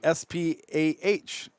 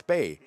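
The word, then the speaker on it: Spah: It's spelled S-P-A-H. Okay, no brainer, right? That's Lizzie Spa. No, it's Spay.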